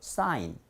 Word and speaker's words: sign: sin이라고 발음하지 마시고 철자 I잖아요. 그러니까 I로 발음하면 명칭 그대로 sign 되는데 여기 N자가 들어왔어요.